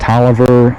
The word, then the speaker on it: Taliaferro: tobacco warehouse robert taliaferro which that would be pronounced toliver um the television were